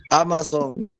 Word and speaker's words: Amazon: Amazon. No es español y no lleva acento en la última sílaba.